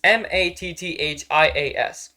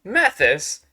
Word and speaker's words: Matthias: name it's m-a-t-t-h-i-a-s that apparently spells Mathis Mathias no it's Matthias people just call me